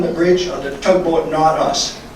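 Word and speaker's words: Nautus: While standing on the bridge of the tugboat Not Us, now Not Us is spelled N-A-U-T-U-S, my cell phone chimed showing a text message from my cousin Wayne.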